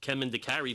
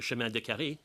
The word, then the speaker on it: chemin de carré: And my voice assistants, even though they pronounce chemin de carry very badly, right, as opposed to chemin de carré, right, that they are